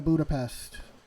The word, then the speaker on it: Budapest: By the way, Budapest. It's Hungarian, Budapest.